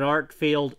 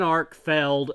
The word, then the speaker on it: Arkfeld: is the one that I very obviously mispronounced last time I don't know why I called it an art field it's an arc failed and I've been corrected